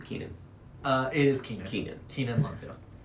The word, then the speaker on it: Keenan: Keenan.